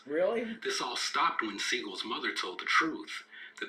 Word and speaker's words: Seagal: Here's where things get interesting during Seagal's role as the sensei. Oh, and if you wonder why I keep saying Steven's last name is Seagal, it's because that's the actual proper pronunciation of his name.